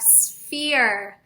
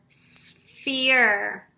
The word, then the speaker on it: sphere: say it with me sphere we know that s says ph says long e says e r says er and we have a silent e at the end blend that together